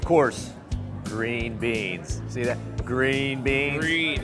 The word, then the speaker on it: Gruene: Green beans. Green. How do you spell that green? Well, yeah, G-R-U-E-N-U-E. U before E, except after G. E before U.